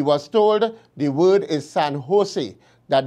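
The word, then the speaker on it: San José: was going he said san jose he was told the word is san jose that the j is pronounced like an h when asked where how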